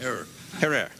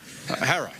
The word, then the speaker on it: Herer: Have I pronounced it correctly, Jack? Herrera. Herrera.